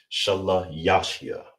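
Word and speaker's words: שלישי: How you say third, you just say third rather, is sha la ya shia. Sha la ya shia. That's how you say third, all right?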